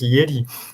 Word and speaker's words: Jedi: He spoke with very nice pronunciation, because she spoke the Jedi Knights, which was in Poland, J is just Yi, so she Yeah. just pronounced it Jedi.